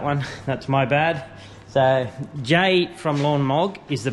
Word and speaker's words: Jay: And while we're apologising, good old Lawn Mog, his name is spelled J-A-I, so I've been calling him Jai, but his actual name is Jay. So if anyone needs to talks to him, call him Jay. Don't call him Jai, because apparently he doesn't like that.